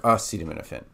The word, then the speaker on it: acetaminophen: or milk and then it's not no fin it's nothing so as in Canon or a cannon so there's Canon like the thing that ex shoots out shells and then there's a cannon like Canon and D from Paco bill and then Finn p-h-e-n part of hyphen okay so acetam when